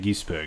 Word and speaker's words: Gisbergen: Gisberger? Is that how you pronounce it? Shane Van Gisbergen.